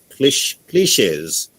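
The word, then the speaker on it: cliché: Abandon those cliches. Look at the word, the accent on the E, like resume, cliche.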